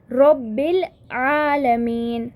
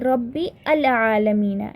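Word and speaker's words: رب العالمين: Rabbil alameen, Rabbil, I directly said Rabbil, I did not say Rabbi al alameen, it is not like that.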